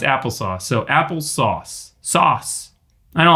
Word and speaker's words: Apple SOS: see what it says pronounced applesauce what apple sauce they they okay here's